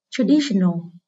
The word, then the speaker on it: traditional: Traditional. Từ này có hậu tố O, không ảnh hưởng đến trọng âm của từ gốc. Xét từ gốc là từ tradition, thì có hậu tố tion, vì vậy trọng âm rơi ở âm tiết trước nó.